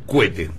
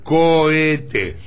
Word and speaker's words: cohete: idioma y usted dice cuete no no no no no sí sí dicen de esta forma no se dice cuente se dice cohete no escuché lo sé